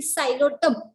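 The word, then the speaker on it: Psilotum: The example from this is नोन एज दी सायलोटम. उच्चार आपण स पासून करतोय, सायलोटम प्रोनाउन्सिएशन, पण स्पेलिंग जे आहे ती पी पासून आहे. पी सायलेंट असल्यामुळे पीचा उच्चार होत नाही.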